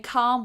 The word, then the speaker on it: calm: Because this vowel sound is a long vowel sound and it goes a like that. A. It's kind of like being in a choir. A. That's that sound. And we have it here with father. Can you hear that? A father.